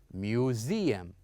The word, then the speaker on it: museum: would say it or we're going to pronounce it as z so we would say museum museum so this is